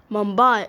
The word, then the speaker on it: Mumbai: year mumai is was once known as Bombay due to the British inability to pronounce mambai but in but but in 1995 the name was changed to return to the original pronounciation mumai has been called